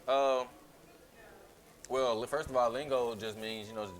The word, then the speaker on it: Lingo: was just like lean only one girl got it right she said lingo and then i'm like yeah that's cool and then how was they pronouncing it before they were saying okay like that was the okay emoji yeah they were tripping hard but they were saying link okay but it was so